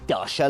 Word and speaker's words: Dacia: never heard of dasha you pronounce it dasha like the russian chateau and indeed eastern europe